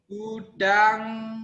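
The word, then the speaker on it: Buddhaṃ: Ingat ya, kalau ada M titik atas dibacanya eng.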